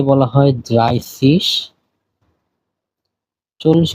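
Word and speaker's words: dreißig: কে বলা হয় সসি 30 কে বলা হয় ড্রাইসিস।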